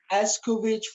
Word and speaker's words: Escovitch: I'm so excited to make this Jamaican Escovitch fish.